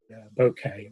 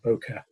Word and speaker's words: bokeh: more control over the bokeh or boka depending on how you want to pronounce it so that is and